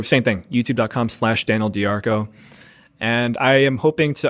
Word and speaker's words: DeArco: I am on instagram at Daniel Darko just my name a link it it spelled like dear but I'm also on